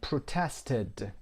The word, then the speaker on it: protested: بازیکنان انگلیسی protested ایدی میگیره در انتها و it هم تلفظ میشه ایدیش protested به خاطر حضور t.